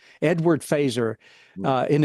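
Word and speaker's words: Feser: it it looks like fesser f ER like but it's pronounced phaser like the the weapon in Star Trek Edward faser uh and it's a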